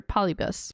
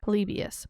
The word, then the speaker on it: Polybius: It'd be like Polybius or Polybus. But they say Polybius. Polybius. That's how they say it.